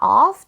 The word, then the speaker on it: off: I'm g 그리고 마지막에 off이 전치사도 오라고 하시는 분들도 많더라고요가 아니라 a 발음이에요 전치사과 off 둘 다 a 발음입니다 off so I'm going to